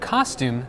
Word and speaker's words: costume: cold in the word costume the tu sound is pronounced like - however the TU sound in the word actually is pronounced like Chu in general words